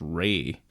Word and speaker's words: Rea: it's yeah it it was a in Steven Ria like Stephen re's fa re Ray Fai St Ray I've spent I've spent [